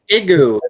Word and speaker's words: Igoo: I don't know how to pronounce it. IGOO or is it LGO? Yeah. No, it's Igu.